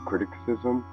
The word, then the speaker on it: criticism: I kind of have the same problem when trying to say the word criticism. I always pronounce it an extra C when you're not supposed to.